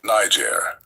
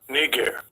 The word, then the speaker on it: Niger: Now the way English works n I g is pronounced niger. But let's listen to how the word is pronounced in the Greek language that it was written in Strongs G3526 narr as you guys can see the prophet Barnabas was called nger and you can see